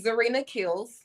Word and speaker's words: Zarina Kills: So it's ZORINA KILLS. ZARINA Kills. ZORINA KILLS, right? ZARI. ZAR. Okay, spell it out from the beginning. ZA. I didn't say, I'm not saying ZA. No, you saying ZA. I'm saying ZO. You're right. Okay. Spell it out from the beginning, honey. ZARINA KILLS. Let me see. Oh, I don't know why I thought Zarina had a ZO.